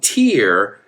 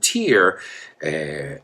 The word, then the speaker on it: tier: I mean tier as in nivel, right? It sounds exactly the same. In fact, the word lágrima, tier, T-E-A-R, and the word tier, nivel, I would say in Spanish, sound exactly the same.